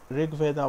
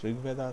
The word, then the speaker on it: RG Veda: This is Rig Veda by Clamp, and I know it's written as RG Veda, but Clamp themselves said that this was supposed to be pronounced as Rig Veda, so that's what I'm going to refer to this as.